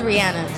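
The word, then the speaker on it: Rihanna: It is 'Ree-anna.'" Then again, this is the woman who thinks the word "umbrella" is pronounced like this … "Under my Umbrella-ella-ella-eh.”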